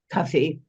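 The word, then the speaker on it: Cuffe: Paul coffee is that um how would you pronounce his name coffee correct coffee um you say that he he built an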